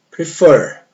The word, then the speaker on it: prefer: Então aqui vai dobrar quando a última sílaba for a mais forte. Perceba no exemplo aqui, ó. Prefer.